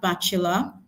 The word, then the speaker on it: bachelor: The next option here, we have bachelor. Bachelor. Okay. Bula. You notice in bachula we're using the schwa sound.